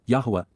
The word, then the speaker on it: Yahweh: growing again these would be weeds and W Yahweh Yahweh the proper pronunciation of the name of eloah God as